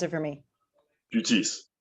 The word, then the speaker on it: Buttice: Please pronounce it for me. Buttice. Buttice.